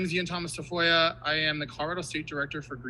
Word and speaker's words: Tafoya: My name's Ean Thomas Tafoya.